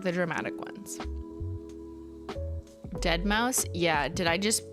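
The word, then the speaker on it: deadmau5: Dead Mouse. Yeah. Did I just pronounce it dead Mau 5?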